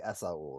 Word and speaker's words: Esaul: Is it Esaul or Yeah, it's Esaul? Esaul. Hmm. I think I've always, because but how do people pronounce it?